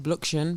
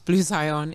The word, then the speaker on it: Blu Xion: so on yeah so my Instagram is uh blue Zion a few people pronounce it bluction but it's blue Zion it's b-l-u-x-i-o-n and same for tick tock I'm